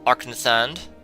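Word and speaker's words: Arkngthand: I think the G is silent. Arknethand.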